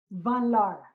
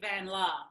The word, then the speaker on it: van Laar: van Laar. Is that properly pronounced? Well, in Australia, people tend to just say Van Laar, but I think, yeah, the Dutch would say more like Van Laar.